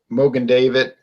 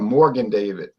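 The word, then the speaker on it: Mogen David: They pronounce it funny. They'll like say, "Do y'all have Morgan David?" And I say, "It's not Morgan."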